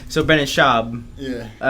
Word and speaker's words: Brendan Schaub: him, or I just related to him, the Brendan Schwab. Brendan Schwab. Schwab or Schaub? I forget, how do you say his name? He hates that. It's Brendan Schaub.